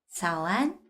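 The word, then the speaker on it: 早安: 자라고 읽어 주시면 돼요 여러분 굳이 제가 성조 설명하지 않아도 삼성과 삼성이 나오면 앞에 있는 걸 자연스럽게 읽기 위해서 이송으로 바뀌는데 그 뒤에 다른 1성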